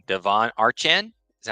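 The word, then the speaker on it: Achane: win this game Devon I'm gonna get his name wrong Devon archan is that how you say his name a chain H chain yeah that dude is a [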